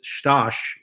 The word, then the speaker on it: Stash: And that's Stash, is how he likes to say his name, Korzeniowski.